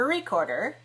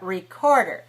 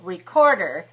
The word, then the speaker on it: recorder: that recorder not a recorder but recorder so recorder three syllables stressed on the second can I have you